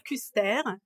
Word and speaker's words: Kuster: Eh bien, je suis alsacienne et c'est pour ça qu'il faut dire Custer, puisque ça doit se prononcer comme ça s'écrit, tout bonnement.